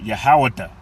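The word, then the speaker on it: יהודה: Now, she also gave him the son Judah, which in the Hebrew is pronounced Yahaweda and it means Yahawah thanks.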